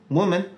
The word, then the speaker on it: woman: Et il se prononcera ou dans Bosom, Wolf, Woman.